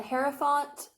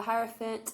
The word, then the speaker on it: Hierophant: We have the Hierophant or the Hierophant. I've heard it pronounced both ways.